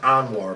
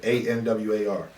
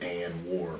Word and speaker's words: Anwar: war bet what's your question sir and it's pronounced anwar by the way a-n-w-a-r anwar that's how you pronounce it just in case because you know i don't want to hear and war bars cause i listen your